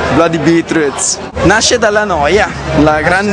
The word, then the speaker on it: Bloody Beetroots: The Bloody Beat Tommy ditemi la pronuncia giusta The Bloody beatr i nostri amici dicono sempre Blood beatr nasce dalla noia la